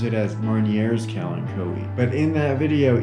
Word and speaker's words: Marnier: explorer was french and in french you don't pronounce the last letter of a word if that word ends in a consonant r is a consonant